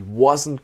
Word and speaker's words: wasn't: He wasn't gonna do. And then the T is silent.